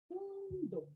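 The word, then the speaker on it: 運動: So notice how I also pronounce the do longer because do is followed by a vowel u, which makes the sound or the mora or the syllable longer than the usual.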